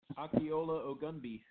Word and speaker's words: Akinola Ogunbiyi: The silent N in the Akinola looks like it should be Akinola, but it's Akinola Ogunbiyi.